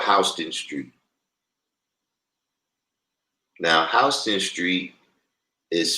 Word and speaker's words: Houston: in New York we got a street called hting Street now hon street is spelled the same way as Houston like Houston